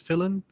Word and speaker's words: Fillion: short movie with Nathan Fillion, I guess it's Fillion? How do you Fillion. Pronounce it? Fillion, yeah.